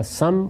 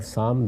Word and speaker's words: سام: تلفظ ہیں، اسی طرح سم اور سام دونوں تلفظ ہیں۔ ان کی اولاد آگے